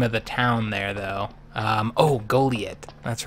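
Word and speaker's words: Goliet: Goliath. That's right. Oh, that's right. Yep, the one that rhymes with toilet. Kind of. If you say it just right.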